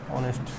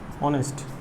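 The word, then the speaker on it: honest: অনেস্ট, অনেস্ট, অ্যান্ড অনেস্ট, এইচ দিয়ে শুরু হয়েছে কিন্তু।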